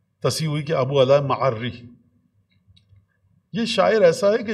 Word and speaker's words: معری: ان کی مغفرت فرمائے، کہ ابو اعلی معری ہے. بہت سے لوگ معری پڑھتے ہیں، ہم بھی کسی زمانے معری پڑھتے تھے تو بڑا ایک مذاق